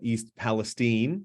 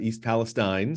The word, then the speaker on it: Palestine: uh folks living uh they call it East Palestine not East Palestine so um we hear